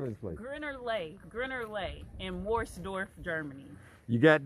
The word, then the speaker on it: Geierlay: It's Lay, not Lake. Lake.